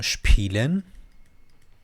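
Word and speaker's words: spielen: میده ش پیلن ش ببین اینم صدا این بعد اس ت و پ بیاد ش تلفظ میشه دیگه ۹۹ اوقات خب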